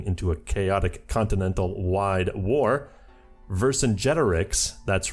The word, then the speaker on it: Vercingetorix: Vercingetorix, that's right, I learned how to pronounce it, sides with his former enemy Wilhelm II to fight against the 2 Sicilies.